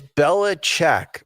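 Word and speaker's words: Belichick: Is it Bellichic or Bellichic? It's Bellach, but I like to say Bellachic's chick.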